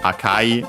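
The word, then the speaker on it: 赤: Uh after that we have akai uh an adjective which means uh red uh aka on its own which is accent on the first syllable means red.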